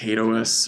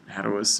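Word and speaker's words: HATEOAS: And that's this principle, which has a really awkward name, pronounced Hadous or Hadous, depending on, but the full form is hypermedia as the engine of application state.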